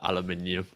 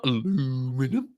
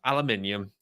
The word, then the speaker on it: aluminium: is actually brilliant um because it love that aluminium yes that's how you're supposed to pronounce it not aluminum can't just pronounce it aluminum um aluminium but yeah honestly that stuff is great please